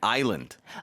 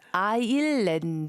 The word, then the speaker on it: Ireland: for Koreans to pronounce, especially because if you read it in Korean, there's no R sound. To me, a lot of times it sounds like people are saying island. Oh, so it's Ireland.